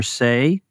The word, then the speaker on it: Sey: I'm delighted to welcome back to the show our old friend Say. That is how you say Say, is it not? It is indeed.